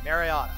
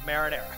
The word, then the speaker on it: Mariana: before Commonwealth of the northern Marana Islands I pronounced it correctly Mariana not marinara but Mariana where the marinera the Republic of